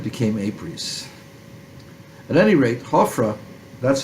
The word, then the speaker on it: Hofra: But the actual pronunciation is Hofra or Hofra. And the Greeks made it Apries, and it became Apries. At any rate, Hofra, that's how he's called in the Jewish Bible, is routed by Amasis.